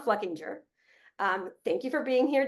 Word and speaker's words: Fluckinger: And I made sure to check that that is the right way to say it. He said I could flub it and it's fine, but it is Don Fluckinger.